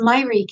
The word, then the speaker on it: Mayrik: It's called Mayrik. Mayrik. It's actually pronounced Mayrik in Armenian, which means mother, believe it or not.